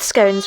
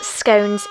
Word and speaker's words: scone: scones with a corgi yes scones is in fact the right way to pronounce that word it's not a scone don't let anybody tell you otherwise there's an e at the end of that for a reason and also you must